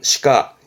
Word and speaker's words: 歯科: 치과 발음은 시가. 이것도 음이 시예요. 치과는 시가, 시가.